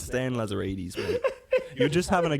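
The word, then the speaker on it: Lazaridis: But don't worry, Stan Lazaritis has given us a promise of 6 to 8 wow signings. Who's Stan Lazarides? It's Stan Lazarides, mate.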